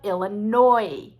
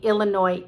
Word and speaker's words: Illinois: state illinois from the illinois indians but they gave it a french spelling and so the n-o-i took an s that we never pronounce and another state name